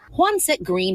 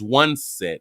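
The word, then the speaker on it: Juansette: But her name is One Set and it's spelled J u A N S E T T E.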